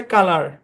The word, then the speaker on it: COLOUR: COLOUR, এই শব্দের উচ্চারণ হচ্ছে কালার। হ্যাঁ, কালার। প্রথম অংশের উচ্চারণ কা, কেন কা, কোনো ব্যাখ্যা নেই। পরের অংশের উচ্চারণ লার।